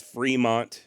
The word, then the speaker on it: Fremont: man uh that said I am fully aware that pronunciations do change over time and currently here in the United States Fremont is correct you live in Fremont County or you went to Fremont High School I get it so